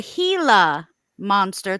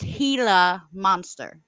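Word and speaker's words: Gila monster: um oh I'm saying it wrong it's a hila monster thank you Sherry um Sherry looks out the pronunciation so it's pronounced hila monster um anyways um so like he got rushed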